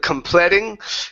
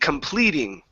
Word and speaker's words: completing: this word here okay give me a good long e sound complete instead of completing complete completing completing good about completing the